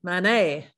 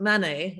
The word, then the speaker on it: Manet: sort of obsessing about Manet, always pronounce it wrong. Here they say Manet, which also isn't the right French way, but Manet, as we always say in England.